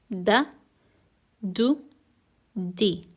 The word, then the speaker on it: د: pronunciation of each du D is uttered when the front tongue touches the upper teeth now repeat after me d d d it is similar to the D in doctor an example would be